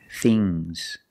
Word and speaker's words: things: Remember with NGS, it makes a soft G, G. Bangs, bangs, bangs. Things, things, fangs.